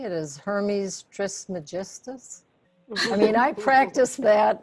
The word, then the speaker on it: Hermes Trismegistus: Hermes Trismus. No. I mean, I had some trouble there. So I went on Google, how do you say Hermes Trismegistus?